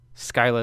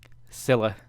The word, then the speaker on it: Scylla: it right oh wait there's an English pronunciation and a Greek pronunciation Scylla is the Greek Scylla is the English so I was saying